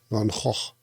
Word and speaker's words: Van Gogh: In Dutch it should be correctly pronounced like Van Hoch.